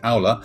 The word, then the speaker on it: Aula: me about Ola and particularly if I've mispronounced it and it's actually AA and what do you do it is AA well yes I'm happy